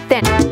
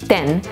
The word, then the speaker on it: ten: spell it te n thin so but make sure and not save 10 as in the number 10 listen to the difference 10 then 10 then so it's very short and dry then it